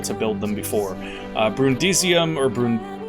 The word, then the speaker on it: Brundisium: haven't been able to build them before uh brundisium or brun brundisium there we go i actually said it right